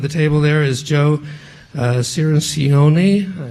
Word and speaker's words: Cirincione: table there is Joe Cirincione I think I may have mispronounced that he's told me it's like minestrone so I tried to remember